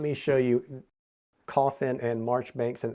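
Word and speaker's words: Marjoribanks: and March Banks and it says this in the rule book is pronounced March Banks how you get March Banks out of that I don't know there must be French involved but that's that's how it's pronounced and that's what we'll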